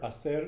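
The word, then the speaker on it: hacer: and to do it and remember acer is spelt um h-a-c-e-r and do you pronounce the h you never pronounce the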